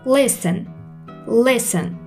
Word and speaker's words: listen: فعل بعدی هستش listen. چش تلفظ نمیشه.